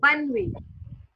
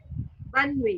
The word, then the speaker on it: bonne nuit: टी is silent. Okay, so bun It's wi, yeah, bun wi. Okay, bun bonne wi, nuit. yeah, bun wi, Okay, bonne nuit yeah, means good night.